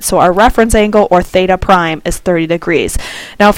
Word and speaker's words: theta prime: We represent the reference angle with this theta prime is how you pronounce it. So our reference angle, or theta prime, is 30 degrees.